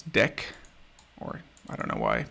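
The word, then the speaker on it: deque: do from collections import i think this they want you to pronounce this deck or i don't know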